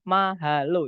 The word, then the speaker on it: mahalo: Di situ yang alpha, mahalo, itu ada 3 syllables. 3 suku kata, yaitu ma, kemudian ha, kemudian lo.